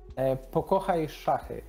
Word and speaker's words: Pokochajszachy: Okay, let's teach our audience to, let's say, pronounce this in Polish. Can you do it, Patryk? Pokochajszachy. Mm-hmm. Yes, and now me. Pokochajszachy.